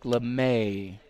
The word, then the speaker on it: LeMay: rather I'm told that I'm pronouncing Jack LeMay is the proper way of pronouncing number 35 Jack Lemmon sounds a